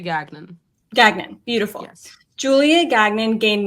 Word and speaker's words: Gagnon: your last name right it's gagnan or Ganon I say gagnan gagan beautiful Julia gagnan